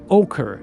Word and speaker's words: ochre: It's ochre.